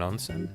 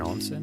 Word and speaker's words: onsen: Is there going to be an onen? An onsen? Excuse me. Pronounced wrong.